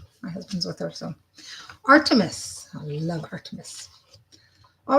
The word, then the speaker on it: Artemis: So Artemis. I love Artemis. All right, selfhood. So let's see what Artemis. In French, I say Artemis.